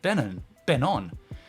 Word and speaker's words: Benon: When I moved to Adelaide, I purposely renamed myself Ben-on. The pronunciation, it's spelt Benon, but it's said Ben-on.